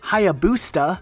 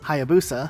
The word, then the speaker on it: Hayabusa: Also, while we're at it, this helmet from Halo 3 that was very popular is not Hayabusa, it's Hayabusa. This one's not as much